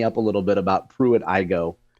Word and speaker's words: Pruitt-Igoe: to chat me up a little bit about Pruitt-Igoe. It's Pruitt-Igoe, right? Yes, Pruitt-Igoe. I want to make sure that I pronounce that correctly.